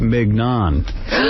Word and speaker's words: mignon: So this idiot goes to Scott, how do you say that mignon? So Scott says, you're pronouncing it right, mignon.